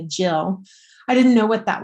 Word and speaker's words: gill: I didn't know what a gill or a jill. It's actually usually pronounced in America, jill.